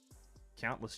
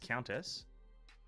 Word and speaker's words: countess: Atia count as Chelsea countless Chelsea isn't it countess it's Countess not countless Jesus Christ Priscilla hakate